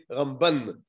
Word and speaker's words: Ramban: we put the emphasis so when we speak about rabbi moshe ben maimon the emphasis is on the first syllable rambam when we speak about rabbi moshe ben nachmann the later then the emphasis is on the last syllable so you say ramban i guess that's just